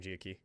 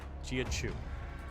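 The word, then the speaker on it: Jia Qiu: By the way, key is pronounced chu. Giau. Okay. And actually know that I just I just kept saying gia key. It at least sounded like I was at least somewhat trying. Chew. Gia chew.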